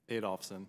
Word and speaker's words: Adolphson: Adolphson. Adolphson? Did I pronounce, where did I put the accent? Say it again. Adolphson. Adolphson, all right, put the accent to the right place.